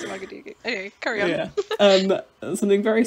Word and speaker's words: Ouagadougou: I remember seeing something very similar happening in Ouagadougou. Ooh, say that again. Ouagadougou. Or sometimes it's pronounced Ouagadougou, but I think it's properly pronounced Ouagadougou.